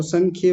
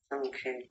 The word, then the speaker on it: संख्ये: संखय नहीं संख्ये ख आधा है तो संख्ये बोलेंगे जी संख्ये हां जी अभी ठीक